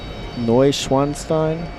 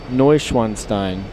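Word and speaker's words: Neuschwanstein: No Schwanstein. Did I say it right, Les Paddock? It's pronounced Noanstein.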